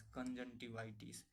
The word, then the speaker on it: conjunctivitis: Pronunciation को आप लोग देखना ध्यान से, CONJUNCTIVITIS, कंजंटिवाइटिस। कंजंटिवाइटिस का मतलब क्या होता है, आँख आना या फिर आँख में सूजन आना।